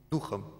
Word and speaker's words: духом: запас создают для себя а духи на первом слоге надо ударение ставить духом и напал на всех